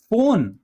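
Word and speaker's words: phone: सुनाई दे रहा है फोन फोन में एफ नहीं है पर हम क्या पढ़ रहे हैं फोन फोटो एल फेंट डॉल्फिन इसमें पीएच जो है वो एफ की तरह सॉरी ये एफ की तरह साउंड कर रहा है।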